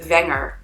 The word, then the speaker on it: Wenger: our last name is Wenger, W-E-N-G-E-R. And obviously William is spelled with a W, but it's the English W, W, versus the German W, V.